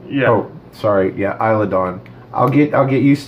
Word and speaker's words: Isla Dawn: but it's I'm lagonda S is silent yeah sorry yeah isla dawn I'll get I'll get